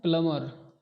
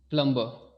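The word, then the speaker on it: plumber: इसको हम पढ़ते हैं प्लमर। ना कि प्लमबर। बहुत सारे लोगों मैंने देखा है कि इसको प्लमबर प्लमबर करते हैं बट वो प्लंबर नहीं होता। यह होता है प्लमबर।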